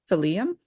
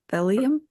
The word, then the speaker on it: Phelim: Phelim? It's French. That's why Yeah. I would just say Phelim. I went with Phelim. Well, like Nephilim, name, right? Nephilim. Phelim. Yeah.